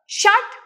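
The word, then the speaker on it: षट्: द्वे त्रिणी चत्वारी पंच शट like in शट the window शट your mouth तो same action ट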